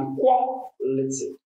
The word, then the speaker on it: equality: And we have equality. Equality. The stress is on qua, the second syllable.